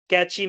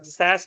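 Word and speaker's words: cache: क्या-क्या टेक्निक्स हैं पासवर्ड की, बैंकिंग की, वेबसाइट के कुकीज़ की, कैश की, कैश मेमोरी या कैची मेमोरी या सैस मेमोरी भी बोलते हैं बहुत लोग उसको। सी ए सी एच ई बोलते हैं।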